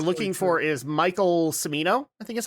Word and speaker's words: Cimino: is Michael Cimino, I think is how you say his name.